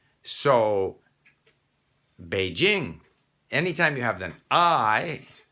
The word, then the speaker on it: Beijing: by pronouncing the word so if you see beijing you're going to say beijing except there are some people who are convinced that every j in chinese should be pronounced zhao even though we don't